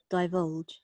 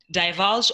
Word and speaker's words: divulge: Divulge. Okay, so this American pronunciation, like I'm South African and more British, so divulge or divulge, okay?